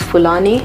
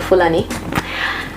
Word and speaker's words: Fulani: I will start with Fulani so some people pronounce this Fulani if you're from Nigeria like I am you pronounce it Fulani yeah so I'm just